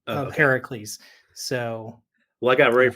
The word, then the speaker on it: Heracles: No, so Hercules is the Roman pronunciation of Heracles. Okay, So everyone says Hercules, but really, if you're using the Greek name, it's Heracles.